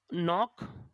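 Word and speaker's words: knock: को बोलते हैं ए नॉक अट the door नॉक अट थे डोर के एनओसी के नॉक अट थे डोर ठीक है ना नोटिस में के होगा साइलेंट सौल कन्नौट ना पढ़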